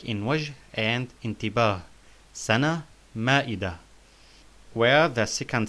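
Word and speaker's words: مائدة: So we pronounced the ta marbuta in sana and ma'ida like ha, like in wajh and intibah. Sana, ma'ida.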